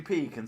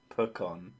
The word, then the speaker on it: pecan: brilliant hearing pee can sound gross here's the sauce it's pronounced pecan what pecan pecan pecan